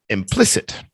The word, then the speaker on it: implicit: uh implicit implicit implicit the stress is on pliss implicit yeah all right yeah